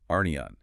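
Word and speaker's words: ἀρνίον: It's arnion. Pronounced r n e on.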